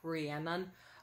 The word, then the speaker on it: Rhiannon: lot of people spell it wrong and a lot of people pronounce it wrong, but it is Rihanna, not Rihanna. It's Rihanna like banana, not Rihanna from Savannah.